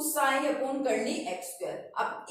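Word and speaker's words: psi: 2 और ये जो बना रखा है इसको बोलते हैं साई, इसके अंदर जो पी है, पी क्या होता है, साइलेंट होता है, क्या है, साई।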